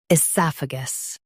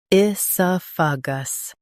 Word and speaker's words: oesophagus: Esophagus. Now, read the syllables of British pronunciation shown on the screen naturally. I, soph, gus. Esophagus. I, soph, gus. Esophagus. In US, stress sa. In UK, stress soph.